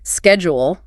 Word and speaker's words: schedule: But in the UK it's soft. It's a sh sound.